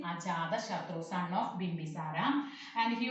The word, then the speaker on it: Ajatashatru: Remember how to pronouncing Ajatashatru, son of Bimbisara.